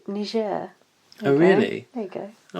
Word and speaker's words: Niger: It's not pronounced Niger, it's called Niger.